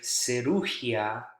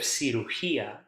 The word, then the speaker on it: cirugía: important to make sure you stress the correct syllable. If you accidentally, like the example I gave, cirugía, instead of cirugía, it will be hard for people to understand